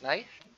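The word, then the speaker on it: Knafe: Like knife, but with an A.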